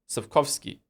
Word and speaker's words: Sapkowski: How do you pronounce it then? Sapkowski.